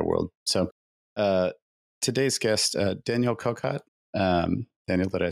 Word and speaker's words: Kocot: Kocot. The C becomes a Z actually, so it's quite complicated.